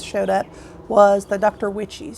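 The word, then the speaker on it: Wyche's: Witchies. Some people call it Dr. Wykes, Dr. Wishes. So it's spelled W-Y-C-H-E-S, Dr. Witchies.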